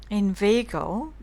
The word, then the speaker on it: inveigle: and dose, say inveigh, nay, but inveigle, make the latter rhyme with eagle, mind meandering but mean,